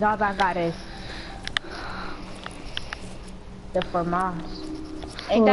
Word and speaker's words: FAMAS: All I got is the FAMAS. Ain't that how you say it? Yep, the FAMAS.